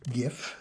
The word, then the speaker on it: GIF: A moving reaction image could be a GIF. That's the pronunciation I prefer. Let me know in the comments if you disagree.